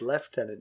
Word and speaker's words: lieutenant: funny that word is lieutenant so so you say it just english is difficult some words just are not pronounced the way they look it's lieutenant general you know where